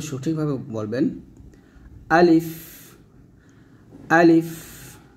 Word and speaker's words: ا: আলিফ, আলিফ, আলিফ টান দিবেন না, তাড়াতাড়ি পড়তে হবে।